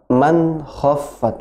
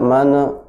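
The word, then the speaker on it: مَنْ خَفَّتْ: Bukan mana khaffat, man khaffat langsung, tidak mana man nun sukun bertemu dengan kha izhar, jadi jelas.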